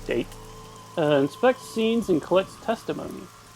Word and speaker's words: Date: During investigations, the main character, Date, I believe it's pronounced Date rather than Date, inspects scenes and collects testimony.